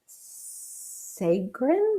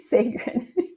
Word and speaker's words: Sagarin: to introduce um dr brad segren no i said it wrong didn't i brad you told you sacred he corrected me of all these years